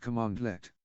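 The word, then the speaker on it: cmdlet: such as PS version a condort pronounced commandlet is a compiled command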